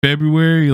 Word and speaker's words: February: far gone and in February like I don't even like I don't know how I say it like I just say February no R yeah